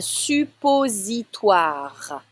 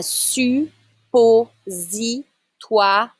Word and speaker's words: suppositoire: Un suppositoire. I need to hear the R at the end. Un suppositoire.